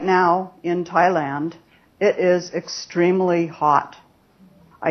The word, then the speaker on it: Thailand: the focus word is Thailand right but the stress syllable or Peak syllable is Tai and that's where we